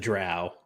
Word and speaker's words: drow: with you saying Dro instead of drow it's Dro and I don't care and I'm not changed see I I'm from the south so I say drow but actually um according to the the pronunciation guide that they published in Dragon magazine either is correct so fair enough it's